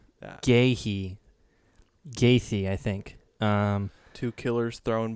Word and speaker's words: Gaethje: Gaethje. Yeah. Gaethje, I think.